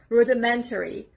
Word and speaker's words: rudimentary: And the next word is rudimentary. Rudimentary. The stress is on the third part, on the third syllable. Rudimentary, on the letter M.